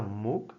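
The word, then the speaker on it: MOOC: Asumo que se pronuncia MUC, es m o o C, donde incluso yo escribí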